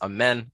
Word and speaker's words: Amin: If you look on the flyer, it says Amin. The pronunciation is Amen.